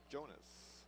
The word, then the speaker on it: Jonas: I believe the correct pronunciation for that number 22 is Jonas.